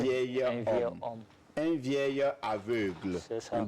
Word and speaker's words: vieil homme: On ne dit pas un vieux homme. On dit un vieil homme.